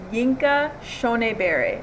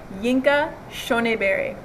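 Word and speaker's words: Yinka Shonibare: Burns, and for today's lesson we are going to talk about an artist named Yinka Shonebare. I'm going to say his name again, Yinka Shonebare.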